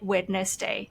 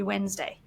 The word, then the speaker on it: Wednesday: a spelling pronunciation so think about the word Wednesday when I spell that word I still say wedness day in my head and I think a lot of people do that and that's a spelling pronunciation and what you've done there is you've done some kind of mispronunciation Correction process you've sounded it out you've got wedness say oh that's got to be Wednesday and you still actually